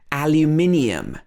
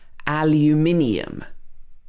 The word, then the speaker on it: aluminium: us and the uk so in the uk this is called aluminium aluminium and in the us it's called aluminum aluminum this can be as